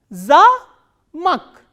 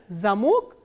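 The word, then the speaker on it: замок: ma Oh curve but here in this word stress has shifted to on the wobble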